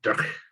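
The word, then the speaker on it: dreich: Is that how you say it? D-R-E-I-C-H, as in duff weather.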